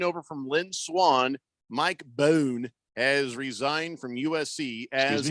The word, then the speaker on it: Bohn: King Kenton says 3.5 years after taking over from Lynn Swan, Mike Bohn has resigned from USC as athletic director. Excuse me? Is that how you pronounce that?